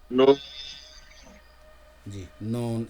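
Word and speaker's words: ن: হ্যাঁ লেটারটা উচ্চারণ নুন, করেন, নুন। নুন, জি নুন, একটু সাউন্ড হারিয়ে গেছে।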